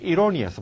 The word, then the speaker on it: erroneous: 앞에가 에게로 발음되는 게 아니라 erroneous. 발음해봐. erroneous.